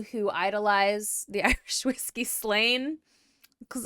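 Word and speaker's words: Slane: Okay, so if it's spelled Slain Theocracy, Slain S-L-A-N-E, I have no choice but to think about it like the whiskey.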